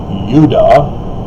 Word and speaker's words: Judah: isn't it interesting that judah is more correctly pronounced if you get rid of the european corruption of turning the semitic yod into the j sound so it would be udah oh that's almost like